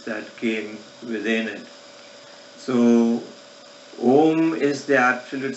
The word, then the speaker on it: Om: So the mantra Om itself is split of 3 sound energies, O, U and Ma. If you study pronunciations, you can the way you pronounce Om, starts like from the base of the throat, U comes to the tip of the tongue, and mouth is closed.